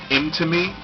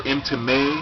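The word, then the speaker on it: Mtume: Imtime, or Imtime, I guess is technically how you pronounce it.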